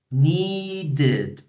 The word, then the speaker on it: needed: need the verb need when you pronounce need the last sound that you pronounce is the D sound so if you want to pronounce that verb in past you need to add an extra syllable so need needed need in present needed in